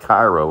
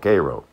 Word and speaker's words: Cairo: lived in cairo georgia that's spelled c-a-r-i-r-o-k-row not cairo like in egypt but it's spelled the same way but in georgia it's called cairo as i said i